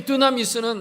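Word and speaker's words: δύναμις: 성경 원문은 디나미스라고 되어 있는데 이 디나미스는 우리가 잘 아는 대로 발음을 디나미스라고도 하고 다이나미스라고도 발음하는데 앞에 스펠링 다 똑같고 뒤에 한 글자만 다른데 그게 다이너마이트라는 단어가 바로 거기서 나온 거예요.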